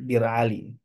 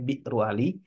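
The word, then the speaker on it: بئر علي: Ali Nah bir Ali orang biasa nyebutnya bir Ali hamzahnya enggak dibaca ya jadi Biu Ali aslinya bacanya biru Ali tapi eh kebanyakan Langsung hamzahnya Tidak dibaca menjadi bir Ali karena Hamzah itu ya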